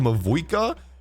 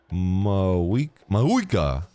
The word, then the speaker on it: Mavuika: Is the V in her name silent? Have I been saying Mavuika and it's Mayui? Wait, if the V is silent, Mavuika, Mauika. That's how you say it?